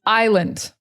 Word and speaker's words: island: The next one is island. I know it looks like island. It's not. I, like I, land. But, well, actually, when we say it fast, it's like lend.